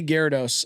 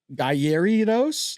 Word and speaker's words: Gyarados: We all say Gyarados. Everybody did from the beginning. And nobody was like geridos. Like nobody ever did anything.